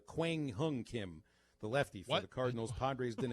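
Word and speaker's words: Kwang Hyun Kim: cardinals and the padres young young kim no i said his name wrong that's uh quang hung kim the lefty cardinals padres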